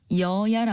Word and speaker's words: 여야: 발음한 것을 느끼셨을 겁니다 여당과 야당을 아울러 잃을 때 여야 아고 하는데 이때는 첫 번째 음절의 여만 길게 발음하고 뒤에 있는 야는 짧게 발음합니다이는 표준어 규정에서 단어의 음절에서